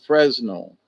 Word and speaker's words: Fresnel: Now it is spelled Fresnel, but it's pronounced Fresnel lens, okay?